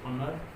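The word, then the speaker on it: honour: और वर्ड हम ले लेते हैं जैसे ऑनर। ऑनर, ऑनर का मतलब सम्मान है। तो ऐसे मामले में यहाँ एच आपका साइलेंट रहता है।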